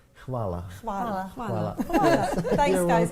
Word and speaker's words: hvala: Hvala. Hvala.